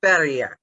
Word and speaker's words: Sverige: Sverige. It means everything for Sweden or all for Sweden. Because Sverige is how Swedes say Sweden.